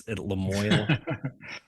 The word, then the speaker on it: Lamoille: It's Lamoille. I know it's like so mispronounced. Come on, Vermont.